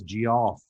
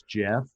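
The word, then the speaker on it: Geoff: was in my 30s i called those guys g off it's like uh it's jeff i'm like well if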